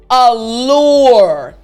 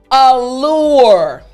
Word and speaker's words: allure: that in this word there are two l's two l's and sometimes it's a little bit difficult for english learners to pronounce the l sound properly so all you need